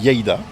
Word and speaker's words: Lleida: Et voilà, il est 10h30, on est bien arrivé à la carrosserie ici, près de Lleida. C'est comme ça que ça se prononce, hein? Ouais. Lleida.